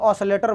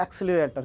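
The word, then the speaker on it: accelerator: एक्सीलरेटर समझ रहे हो ना, मोटरसाइकिल का एक्सीलरेटर नहीं, हम लोग ऑसिलेटर बोलते हैं, लेकिन हकीकत में उस चीज़ का उचित प्रोनाउंसिएशन क्या होता है, एक्सीलरेटर।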